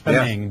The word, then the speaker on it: Ishpeming: Is it Ishpeming? Is that how you pronounce it? Yes, sir. Ishpeming.